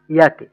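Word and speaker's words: Jacke: হচ্ছে এটা ইয়াকে কেন হইলো? আমাদের জের উচ্চারণটাই, যে যে শব্দটা আছে সেটাকে আমরা কি বলি? ইয়ট। ইয়ট।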